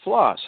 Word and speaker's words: Ploss: Ploss once a day. I'm sorry. You know what? I know Ploss. I'm trying to say Ploss it phonetically. every day. No, that's fine. Ploss every day. That's what I say.